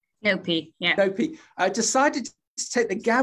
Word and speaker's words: Nopi: Nicole, then head chef at the acclaimed Soho restaurant, help me with the pronunciation, Nopi. Nopi, yeah.